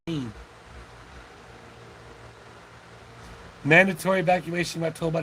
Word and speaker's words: Helene: Helene, is how you say Helene.